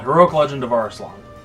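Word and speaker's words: Arslan: called heroic Legend of arlong or arslon as they insist it's pronounce whatever you know engrish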